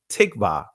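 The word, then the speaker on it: תקווה: And when you understand the Hebrew word for hope, the Israeli pronunciation is tikva. The ancient pronunciation is tha-kwa-wa, right?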